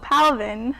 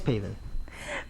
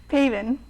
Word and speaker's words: Paven: I'm St kovitzky so Palvin how was it being on the beat you joined us a bit late oh it's great yeah you kind of got my name wrong it's paven paven very unique sorry for